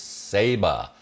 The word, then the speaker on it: Saba: My only correction would be the pronunciation of Saba Rock. It's Saba.